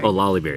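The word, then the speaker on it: Olallieberry: I keep forgetting how to pronounce it, but the Olanderberry, I forgot. But anyways, that's Olaliberry. Olaliberry, that's right, Olaliberry ice cream.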